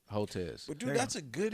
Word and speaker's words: Hotez: Hotez. Think of hotel with a Z. Hotez.